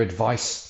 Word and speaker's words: advice: the advisors gave their advice freely take my advice I don't use it anyway many receive advice but only the wise profit from it so the noun the C version rhymes with ice let's go back to